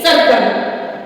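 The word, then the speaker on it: circle: गया है सी आई आर सी एल ई सर्कल फिर इसका काट रूप में उच्चारण देखिए सी ए टी कैट सी ए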